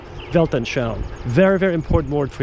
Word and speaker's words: Weltanschauung: It's written with a V.